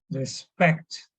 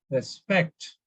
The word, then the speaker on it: respect: Similarly, respect, All right, respect. You see here, the stress is on SPEKT. So for pronunciation, it is respect.